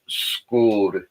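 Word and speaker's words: skål: word, it's actually pronounced schooled. Schooled. It's almost like they roll the L at the end of the D, and they pronounce the U as like a hard but shortened O.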